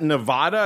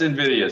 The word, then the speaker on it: Nvidia: pronounce this is that is that Nevada is that how you say that sir that's Nvidia sir oh oh I'm not